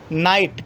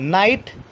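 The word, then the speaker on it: knight: world ए silent के के silent कब होता है अगर एंड से पहले अगर कि आता है तो के साइलेंट होता है को हम प्रणव नहीं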